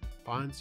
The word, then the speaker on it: Fiennes: um with ralph fiennes i think it's pronounced uh yeah fines yeah uh when you